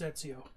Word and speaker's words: Ezio: has the point that comes down yeah that's Ezio oh is that his how you say his